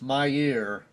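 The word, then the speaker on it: Mier: And we're coming up on, I believe it's Mayer, is the way it's pronounced, M-I-E-R.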